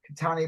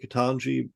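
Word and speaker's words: Ketanji: Katani Brown Jackson? Yeah. Is it? Did I just say her name right? Katan. Oh, now you've got me wondering. Katana Brown Jackson, right? Katanji Brown Jackson. Yes.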